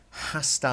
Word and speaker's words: hasta: on the RAAF's and you do not hear an H in Spanish so if you're saying hasta las sombras that's gonna sound terrible H's are silent now Ambrose our shoulders